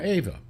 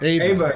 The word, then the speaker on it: Eva: Ava, they pronounced it, yeah. And it might be Oh, how. It's spelled Eva, but I think Okay. they always pronounced it Ava.